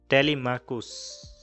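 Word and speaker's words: Telemachus: टेलीमाकुस टेलीमाकुस ऐसे प्रोनाउंस करते हैं इसको।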